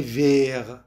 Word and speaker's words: vert: Le livre est vert. الكتاب أخضر. ت الموجودة بآخر كلمة vert لا تلفظ.